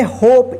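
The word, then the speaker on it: hope: इसको क्या पढ़ेंगे smoke H ओ पी ई इस क्या पढ़ेंगे होप इसको होप प मत पढ़िए ई का उच्चारण नहीं होगा लास्ट में ठीक है जे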